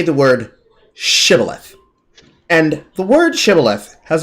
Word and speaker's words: Shibboleth: Point being, when they pronounced the word Shibboleth, they instead said Sibboleth, which is exactly how it's said in the Jewish tone, upon which they were slaughtered.